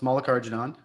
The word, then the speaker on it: Mallikarjunan: So last name pronounced Mallikarjunan.